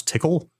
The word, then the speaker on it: Tcl: scriptable IRC client through TCL which I pronounce tickle oh yeah I love